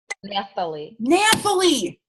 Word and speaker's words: Nathalie: How do you say your name again? Nathalie.